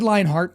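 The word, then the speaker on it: Leonhardt: to correct you, but David Leinhart, or I think that's how you say his name, Leinhart, he reported, quote, in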